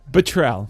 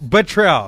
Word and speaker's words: Botrell: Go ahead and Botrell. Botrell. Okay, I wrote it down here phonetically.